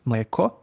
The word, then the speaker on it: mleko: Then you have Then you have long climbing accent, which is mleko, and long down um, accent, which is majka.